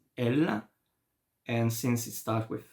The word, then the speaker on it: elle: You know, you don't hear the last two letters. It's not ls. No, it's elle.